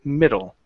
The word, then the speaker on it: middle: here in this phrase instead of instead of saying the middle of it okay stressing here we're going to stress on the beginning of the word middle okay middle so uh